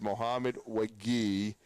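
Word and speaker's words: Mohamed Wague: West Virginia media guide of how to pronounce it. But it's Mohamed Wagi, who is now going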